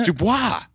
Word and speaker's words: DuBois: Bellefonte no they pronounce that wrong and they pronounce droop Dubois it's Dubois yeah and there's an entire city of people